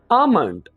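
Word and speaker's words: almond: बोलते हैं आल्मंड north इसको आल्मंड नहीं करेंगे हम बल्कि हम इसे सही तौर पर ऐसे बोलेंगे अमाउंट वेरी इजी वे यहां पर हमने को साइलेंट कर देना है तो हमारे पास बदनाम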